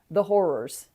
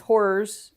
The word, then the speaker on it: horrors: Or things that are just funny, that aren't, the horrors. And that's horrors, 2 syllables, not horrors, which ironically also a pretty good distraction from the horrors.